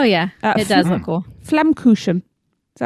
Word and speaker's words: Flammkuchen: Flammkuchen. Is that how we pronounce that?